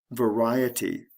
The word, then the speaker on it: variety: Various, variety. The stress shifts from the first syllable to the second syllable.